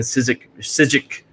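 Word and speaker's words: Psijic: that brand new Grand Sijic Villa. Sijic is how that word is spelled. It's really weird. Yeah. Or I should say it's not spelled, but said.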